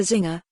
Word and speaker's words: Czinger: The Zinger, the C is silent.